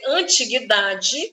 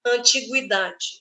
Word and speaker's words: antiguidade: que tem dupla ortoépia eu posso dizer antiguidade vendo este Gu como um dígrafo ou o u como fonema antiguidade sanguíneo ou sanguíneo sanguinário